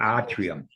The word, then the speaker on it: atrium: So it'd be atrium. A is atrium. The Atrium. Yeah, they are. I got to get that R in there. The accent is on the ah.